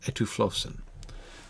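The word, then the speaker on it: ἐτύφλωσεν: Etiflossen. Stress on the second one. Etuflossen has blinded the ophthalmos autu, the eyes of him.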